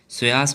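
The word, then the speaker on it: psoas: है पहले आता है सयास मेजर पी साइलेंट है इधर स्वस मेजर होता है नाम याद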